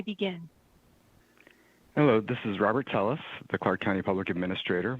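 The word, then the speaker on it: Telles: minutes and may begin hello this is robert tellis the clark county public administrator my last name is spelled t-e-l-l-e-s again my name is robert telus or i'm the clark county public administrator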